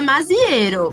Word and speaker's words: Maziero: A gente fala Maziero, né? Mas assim, Maziero. Não pode ter se perdido aí uma outra pronúncia, mas a gente fala Maziero mesmo.